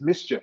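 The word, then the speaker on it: MSCHF: next big thing is mischief have you been following mischief i think i've seen it but i don't remember the details so basically it's spelt ms if you type that in you'll probably come up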